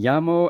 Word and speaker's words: llamo: Like me llamo, LLAMO, and not me lamo. So really important that LL is y in Spanish.